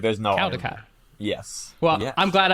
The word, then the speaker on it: Caldicott: Like, there's no, it's Cal, like C-A-L, but they say call.